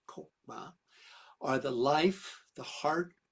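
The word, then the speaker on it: Chokmah: That seems to reference Kether, the first born back up to Kokma, not Chmama like it sounds, but or is written, but it's actually pronounced Kokma are the life, the heart and pulse of the universe.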